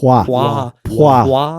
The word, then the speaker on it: Poirot: Even though I can't pronounce his name. Poirot? Poirot. I'm just keep butchering it. It's fine. Poirot.